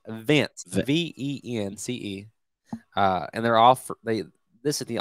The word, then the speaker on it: Vence: So this company is called, I said it wrong, Vence, V-E-N-C-E, and this is the only company that offers this product for livestock in the U.S.